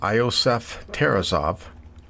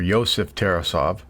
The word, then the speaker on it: Iosef Tarasov: arrogant Russian mob prints I think it's pronounced iosef Tarasov or Yosef Tarasov and his men pay